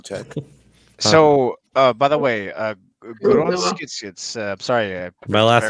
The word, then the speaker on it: Grundgesetz: Is that how do you pronounce that, by the way? Grundgesetz. Grundgesetz.